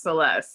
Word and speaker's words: Celese: There's no T, but it's pronounced Celeste.